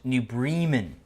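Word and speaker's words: New Bremen: something there for sure someone says it's pronounced new Breeman my apologies okay uh reports of sirens going off in Lake View okay great further north uh up towards new Brean along 219 West of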